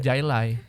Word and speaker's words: Jai Alai: Nama aslinya itu Jai Alai. Ya. Nama Dibaca asli. jadi highlight. Dibacanya jadi Kan J jadi H kayak Haha Miharha. Iya. Ya kan? Julio Iglesias, Yana Julio. Iya. Sama highlight. Benar. Namanya Jailai.